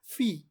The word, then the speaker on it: phi: So,it's English translation or English pronunciation is phi. But it's actual Greek pronunciation is fee.